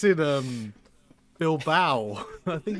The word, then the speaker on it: Bilbao: No, see, it's Spanish. Of course it's not going to be spelt like How that. do you spell it in Spanish then? Bilbao. Bao. Yeah. Bao. Bow, like a bow bun.